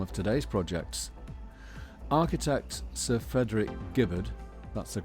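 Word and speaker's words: Frederick Gibberd: Architect Sir Frederick Gibbard, that's the correct pronunciation.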